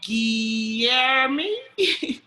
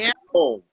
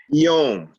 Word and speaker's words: Guillaume: Guillermo? How do you say it? How do you say your name? It's Guillaume. What's that? Guillaume. Guillaume? Yeah, you can call me Guito. It's French, and my nickname is Guito.